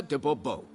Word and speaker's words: de Bobo: better yet as Monsieur de Bobo fine monsieur dabubo the emphasis falls on the last syllable bubble mm-hmm see now